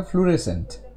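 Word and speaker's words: fluorescent: এই কথাটাও ঠিক নয় কথাটা ফ্লোরেসেন্ট রাইট ফ্লোরেসেন্ট এরকম ভাবে উচ্চারণ আর ই এস ই এন টি এবং সবচেয়ে বড় কথা এখানে ও সাইলেন্ট থাকে তো এই ব্যাপারগুলো একটু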